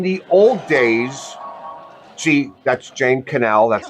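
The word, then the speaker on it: Jane Connell: And in the old days, she that's Jane Canel.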